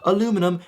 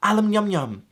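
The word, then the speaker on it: aluminium: Instead of aluminum, it now spells alum yum yum.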